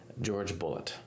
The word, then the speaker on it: Jorge Bolet: the united states and he always used the anglicized pronunciation of his name doing a video like